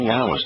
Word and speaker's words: Yahweh: Now, Yahweh tells us how to pronounce his name because when he introduces his name, he says that it is based upon the Hebrew verb Haya, which means to exist.